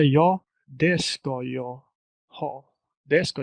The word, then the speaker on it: det: So the letter T, as you just heard, and even you did repeat it well, is also omitted. Oftentimes you don't hear it, so you say det ska jag ha.